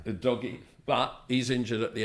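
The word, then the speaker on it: Udogie: regular left back in ad DOI but UD doy o doy yeah o doy but he's injured at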